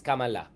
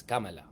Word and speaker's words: Kamala: By the way, it's Kamala. Okay? Yung mga nagmamaganda dyan, oh, Richard, you have to pronounce it well. Tapos sabi niya, guys, I just talked to my friends from, who know the language, it's Kamala.